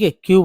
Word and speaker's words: Haque: तो आजकल जो है HAQUE, क्या पढ़ेंगे, हक, तो इसका उच्चारण है क, ये हो गया ह, हक, है ना, हक।